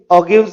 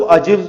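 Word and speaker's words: ogive: इनके लिए ऑगिव्स वहां पे यूज किए जाते हैं। प्रोनाउंसिएशन के पॉइंट ऑफ व्यू से कुछ लोग ऑजिव्स भी बोलते हैं, कुछ ऑगिव बोलते हैं। मैं प्रोनाउंस ऑगिव करता हूं वहां पर।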